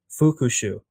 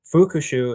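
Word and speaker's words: 復讐: And revenge is fukushu. Fukushu is spelled f u ku s hu.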